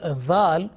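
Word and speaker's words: ذال: Now make sure that the letter Zal should be pronounced with thin and soft sound.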